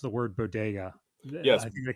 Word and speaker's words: bodega: I also love that later in the sketch they just mispronounced the word bodega. I think they call them bagas or something like that.